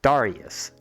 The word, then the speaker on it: Darius: character's name which is Darius Darius not I've been pronouncing it wrong it's Darius or Hans drummer